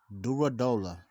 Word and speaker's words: Durodola: makabu WBC champion at Cruiserweight versus ol oranu durola I just know how to pronounce his last name durola now this fight